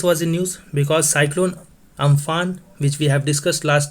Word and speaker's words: Amphan: Because cyclone Amphan, which we have discussed last day and which is pronounced as Umpoon, and this name is given by Thailand.